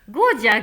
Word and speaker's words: ngoja: Ngoja means to wait. So I can use it like "Ngoja kidogo" to say "wait a bit". The N sound at the beginning is almost inaudible.